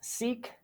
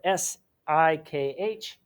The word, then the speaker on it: Sikh: And the last problem I want to mention is known as Sikh, which is spelled S-I-K-H, separatism.